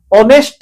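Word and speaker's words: honest: দেখুন তো এ অনেস্ট লেখা এই পড়িবে না অনেস্ট বলি পড়িবে স্পেলিং এটা যাহা সেটা লেখিবে এবি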